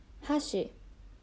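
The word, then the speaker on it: 橋: And you have to be careful with the pronunciation a little bit because we have another word called hashi, which means bridge. Those two words sound very similar, so let's practice. Hashi, chopsticks.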